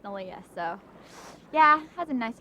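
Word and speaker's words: Neleh: and so it spelled any leh but it's pronounced nalia so yeah that's a nice little twist i'm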